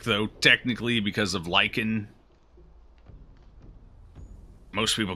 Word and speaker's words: Lich: the end of it - it's not just lick its lick there's a little each sound at